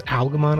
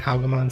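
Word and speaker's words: Alphamon: of aogomon pocket dimension i should note that i'm going to pronounce algamon a little weird just because aguaman and algomon sound nearly identical when spoken naturally so hopefully they'll be easier to distinguish if i emphasize the l to an absurd degree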